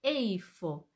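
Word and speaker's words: איפה: importante y Cómo se dice dónde se dice eifo e i f o Entonces vamos a yo les pido que en el cuaderno Ustedes pongan un título que diga dónde y luego escriban eifo entonces debajo de ahí vamos a ir poniendo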